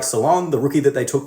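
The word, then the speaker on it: Salaün: end I also like Salon the rookie that they took with the number six pick who could also be pronounced Saloon being an unknown French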